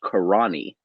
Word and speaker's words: Carinae: you know and after after some deep research into how the name might be pronounced i'm pretty sure it's karani don't know where that's